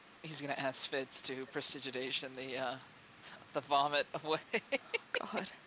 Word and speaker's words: prestidigitation: He's gonna ask Fitz to prestidigitation the the vomit away.